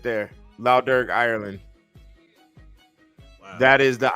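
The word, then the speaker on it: Lough Derg: yeah it's in Ireland it's uh La dur is the island wow right put in lder it's spelled l o u GH and then um uh yeah L dur you see that right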